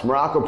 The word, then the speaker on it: Maroko: I am Coach Maroko, pronounced just like the country, spelled absolutely nothing like it.